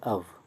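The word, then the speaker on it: of: और ध्यान रहे, नीदर ऑफ के बाद, एक्चुअली इसका प्रोनाउंसिएशन करेक्ट है अव, अ व अव, नीदर अव।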